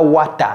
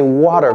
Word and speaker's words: water: Vous voyez comment je prononce water ? J'ai pas dit wat. Wat on n pas à plaisir. OK, c'est pas wata, c'est water.